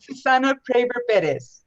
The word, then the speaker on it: Susana Praver Perez: Susana Paravel Pere. Pretty close. Pretty close. Can you help me pronounce it? How do you pronounce it? Susana Praver Perez.